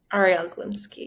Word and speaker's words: Arielle Galinsky: My guest today is Arielle Galinsky. Did I pronounce that correctly? Arielle Galinsky, yes.